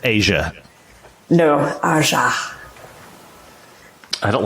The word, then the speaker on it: Aja: It's Asia. No, Aja. I don't like any of this. If it's pronounced like the Steely Dan album, it's Asia.